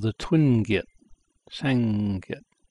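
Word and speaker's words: 쌍기역: this is pronounced like a T, the Giyot, pronounced Giyot. This character, two of them, so it's called the twin Giyot, Sangyot, Sangyot, G-I-Y-E-O-K.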